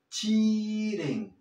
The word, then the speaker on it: cheating: He got caught cheating. Cheating. Sí, la EA la vas a pronunciar como una I y bien aguda en este caso.